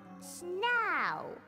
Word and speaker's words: snow: spelled like snow but pronounced to rhyme with cow snow.